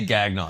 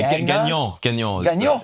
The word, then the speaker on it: Gagnon: Is it Gion? Uh, yeah. How you say it? I say Gagnon just because we're in America, but Gon is a French.